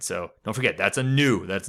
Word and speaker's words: nu: Might look like an italic V, but it's actually the Greek letter nu. All right, that's spelled N-U. It's nu.